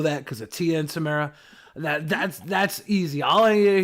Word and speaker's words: Tamara: Have you ever seen Sister? That's how you pronounce it. Tia and Tamara Mowry. Yeah. Tamara. Yeah, that's Tamara.